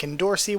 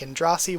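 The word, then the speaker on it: Endorsi: versus and Rossi and I think either of them work from the way I've heard it pronounced phonetically I think endorsee works I think and Rossi works I think it's totally just up to a matter of personal opinion I personally like and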